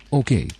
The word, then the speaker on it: oké: Notice the little accent on the E there. We don't use that a lot, but there are a few cases which you need to sort of memorize, I suppose, where we do use the accent on the E. This makes the sound of the E long. So instead of saying okay, this would be okay.